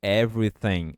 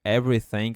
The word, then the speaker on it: everything: você conseguir every every e aqui é sem sem esse th você vai falar com a língua entre os dentes every sem every sem